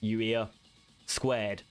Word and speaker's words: YUIA²: YUIA². YUIA². So YUIA, pronounced YUIA squared. Okay?